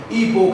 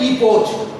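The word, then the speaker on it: epoch: ईपो, कई बार ये सी गायब हो जाता है, तो ये ईपो है एक्चुअली में। ईपो, ईपो सी साइलेंट है, ईपो, ईपो है। कुछ बोलते हैं ईपोच, अजीब बात है।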